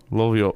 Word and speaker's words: Rovio: I can't roll my R's. Okay, now guess what happened now? Rovio, if you've been listening to me, the way I pronounced it, you'll know where it's from.